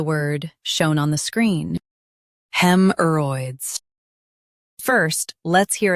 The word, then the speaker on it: haemorrhoids: Hemorrhoids, hemorrhoids, hemorrhoids. Hemorrhoids. Stress hem and soften Hemorrhoids.